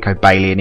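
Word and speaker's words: Cobalion: hello i've been searching for the legendary pokemon co valley i'm not i'm not going to call it cobalian even though that's what it's supposed to be pronounced like just sounds weird uh for decades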